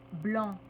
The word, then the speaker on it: blanc: vif vive 3è situation quand on a un adjectif qui se termine par c c qui ne se prononce pas le C va devenir che on va simplement ajouter le h mais avec une prononciation particulière che exemple blanc blanche Fran franche ensuite les